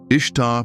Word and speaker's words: Ishtar: Ishtar, pronounced somewhat like Easter, was the goddess of love and fertility.